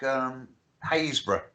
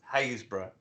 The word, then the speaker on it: Happisburgh: There's one in Norfolk, Haysborough. Right. Or it's spelled Happisburgh. Oh, it's one of those. Haysborough.